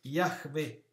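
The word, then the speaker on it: Yahweh: dio non lo pronunciano la pronuncia è la vocalizzazione corretta diventate tetragramma sarebbe yacme in ebraico ma loro pronunciano adonai per cui la vocalizzazione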